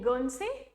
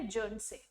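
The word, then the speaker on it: Guernsey: गन से ठीक है गन से या फिर जन से आप दोनों तरह से इसे प्रोनाउंस कर सकते हो ये एक आयरलैंड नेशन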